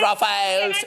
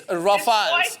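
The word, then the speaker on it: Rafale: It's not Rafael. It's Rafals.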